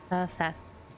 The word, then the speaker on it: Hephaestus: So the thing about the two different names of things, that was Hephaestus is how you pronounce it.